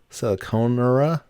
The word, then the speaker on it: Siliconera: um and i'm not sure how you exactly pronounce it but it's sarconier siliconera s i l i c o n e